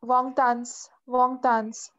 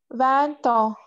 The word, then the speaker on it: vingt ans: Wong tans. Don't pronounce it. Wong tan. Vingt ans. Very good.